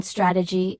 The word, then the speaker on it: strategy: The related noun strategy is stg y with stress on the first syllable which creates an interesting contrast that advanced speakers navigate effortlessly.